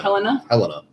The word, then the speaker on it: Helena: Helena.